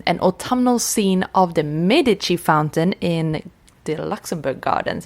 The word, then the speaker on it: Medici: I learned in the catacombs last week that the French pronounce it Medici. Medici. Medici. Medici. Medici. Yeah, Rue de Medici. Rue de Medici. Yeah, but in Italian, and she was Italian. Medici.